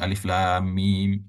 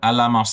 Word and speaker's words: Alif Lam Mim: ain Shad Nah maka caraembacanya adalah kita membaca sesuai dengan bunyi hurufnya ya Ini huruf alif dibaca berarti Alif gitu ya kemudian ini huruf lam dibaca lam ya Jadi bukan alam bapak dan ibu ya tetapi